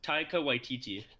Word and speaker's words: Taika Waititi: of interesting to see yeah his name is Taika Waititi that's how you say his name Keiko OTT